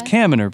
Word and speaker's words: Kaminer: But it's Kaminer, people. It's Kaminer. Kaminer. Rhymes with examiner.